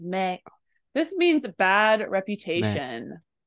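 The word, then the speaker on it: 名: for me hi so this knob right here is pronounced as Mei this means a bad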